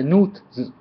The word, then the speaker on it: Nuit: the game there's uh new it there's new it and a lot more but the fish pronunciation of this race is n just like suit but with an N so um which I